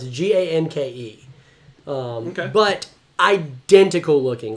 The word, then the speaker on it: Ganke: Morales, Ultimate Spider-Man's best friend, whose name was Gonk or Gonky. I'm not sure how to pronounce it. Ganke.